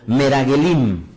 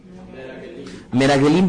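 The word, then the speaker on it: מרגלים: con la palabra hebreo pronunciala conmigo meragulín miragelín vendrían a ser los enviados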